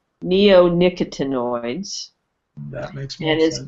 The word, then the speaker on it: neonicotinoids: I'm going to butcher this word but um neon actinoids you mentioned that Tom is adamant about the removal of neonicotinoids and I probably mispronounced that so correct me on that but